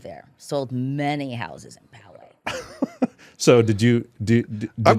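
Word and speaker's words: Poway: How do you pronounce that? You were my former residence in Powe. Powe, not not Powway.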